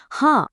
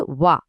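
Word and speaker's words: は: এখানে একটা বিষয় খুব ভালোভাবে মনে রাখবেন, হাঁ অক্ষরটি কিন্তু এখানে পার্টিকেল হিসেবে কাজ করছে, তাই এর উচ্চারণ হবে ওয়া, ওয়া, কোনোভাবেই হা নয়।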